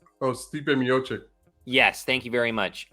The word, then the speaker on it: Stipe Miocic: I apologize I apologize if I get his name wrong s t i p e oh Stipe miocic yes thank you very much uh and then